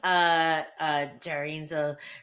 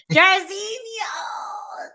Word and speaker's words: Jairzinho: Yeah, so Biggie Boy, Jarinzo Rosenstruck. Did I say it right? No, but Oh no, but you guys know who I'm talking about. He was supposed to Jarzinho. fight Jairzinho.